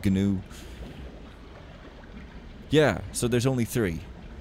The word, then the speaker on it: gnu: Because it's pronounced gnu. It just doesn't sound very good, okay? It sounds like someone who just doesn't know how to say a word, but no, it's the official pronunciation, gnu.